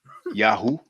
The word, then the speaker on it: Yahweh: Yahweh, we know Yahweh, which might have been pronounced Yahoo, by the way, according to Dr.